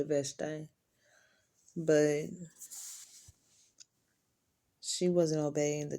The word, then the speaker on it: Vashti: become queen, because Queen Vashti, or Vashti, however you like to pronounce it, I say Vashti, but she wasn't obeying the king's orders, okay?